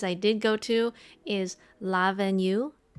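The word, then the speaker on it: L'Avenue: did go to is la venue so that's l apostrophe a v e n u e uh it's like le avenue lavenue um great brunch i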